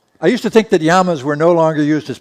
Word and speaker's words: llama: l m a llama these animals are yamas Double L M A in Spanish a Double L is a y sound so that's uh those are yamas anybody know what it